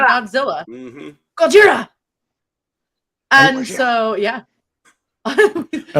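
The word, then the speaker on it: ゴジラ: I'm going to pronounce it Gojira, no matter Yeah.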